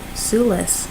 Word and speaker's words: Sulis: so the message from you make sure i'm pronouncing her name sue Sulis yep she celtic sun goddess who oversees bodies